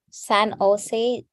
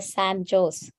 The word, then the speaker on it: San Jose: where um where the San Jose Joe's it they call it a Sam Jose because they they don't know that the J is silent there and then there